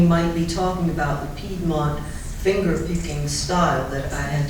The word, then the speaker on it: Piedmont: The actual correct pronunciation of that region is Piedmont. It's a French word, means foothills.